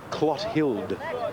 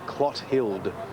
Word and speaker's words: Clothild: Now I'm told reliably that this number 2 horse is pronounced Clothild. It's an old Irish name, a woman's name. Clothild is the correct pronunciation.